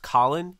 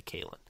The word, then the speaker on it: Khalen: And sorry, that's actually pronounced Khalen. He would bash me over the forehead if he heard me say Khalen.